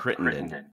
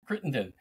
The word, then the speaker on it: Crittenden: Can you pronounce it for us? That is great. Yep. Crittenden. Crittenden.